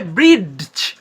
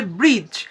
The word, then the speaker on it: bridge: যদি ডি এর পর জি এবং জে থাকে, তাহলে ডি হয়ে যাবে সাইলেন্ট, যার কারণে কিন্তু আমরা ব্রিজ উচ্চারণ করি।